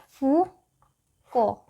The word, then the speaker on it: Foucault: Actually this is a French name. So here the letters are silent and not like that of ours where all the letters are pronounced. So here only you have to pronounce fuco fukco fukend.